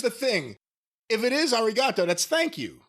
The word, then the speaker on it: arigato: It is arigato. It's just not pronounced the same way like they do in the Styx song, as Jace put it.